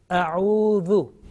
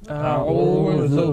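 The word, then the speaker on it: أعوذ: Again, Dhal, soft and thin. Not mingling, not mixing with the sound, with the, like a buzzing sound, like Za. Okay, atuz zakat, not that one, dhu. A'udhu. A'udhu.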